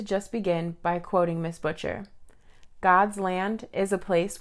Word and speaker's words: Butcher: they are free me butcher welcome to sierra unraveled i pronounced your last name right i should have asked you that first too you did pronounce it right hi sierra thanks so